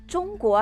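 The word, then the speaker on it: 中国: यह ऐसा है जैसे चीन का अंग्रेजी में चाइना कहा जाता है, लेकिन चीनी उच्चारण चोंगुओ है, और भारत ने अपना अंग्रेजी नाम इंडिया को बदलकर भारत कर लिया है।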